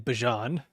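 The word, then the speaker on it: Bijan: And good on you saying Bjon. That is the the proper pronunciation.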